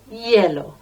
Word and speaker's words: hielo: Some people want it with ice, con hielo. It sounds like the colour, yellow, but it's spelt with a silent H, I-E-L-O, hielo, con hielo.